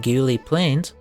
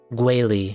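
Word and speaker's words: Guili Plains: It's usually like Guili.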